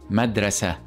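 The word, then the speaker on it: مدرسة: in the word madrasa madrasa which means School in Arabic now notice how when we pronounce it this sweat we pronounce it with the hey sound so we said so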